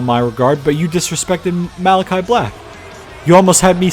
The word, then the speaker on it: Malachi: Day making their way to the ring it's pronounced malagi actually I I said Maly by mistake Malachi black not meleno black okay Greg Hamilton learn